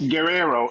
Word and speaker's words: Guerrero: It's pronounced Guerrero. It's like G-E without a U.